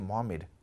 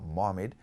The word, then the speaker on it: محمد: فار somebody to say محمد؟ اٹس ناٹ محمد، اٹس محمد. And help the other person to say it correctly.